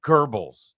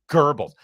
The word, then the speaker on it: Goebbels: What do you mean Goebbels? There's no R in there.